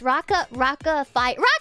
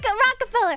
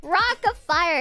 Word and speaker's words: Rock-a-Fire: How do you say this? Rocka fire. Not Rockefeller. Rock-a-Fire Explosion was the band that Billy Bob was from. It's Rock-a-Fire.